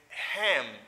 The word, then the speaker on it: him: She needed, vous avez him. You see, I say him. Mais, l'on parle rapide, and spoken in English, you don't pronounce H. It is reduced.